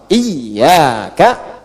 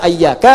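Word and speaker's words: إِيَّاكَ: Tapi tetap dalam bacaan salat dan bacaan Al-Qur'an dibacanya pakai kasrah. Iyyaka, iyyaka, iyyaka. Jangan dibaca ayyaka, jangan dibaca hayyaka dalam salat, ya kan? Dan jangan dibaca iyaka.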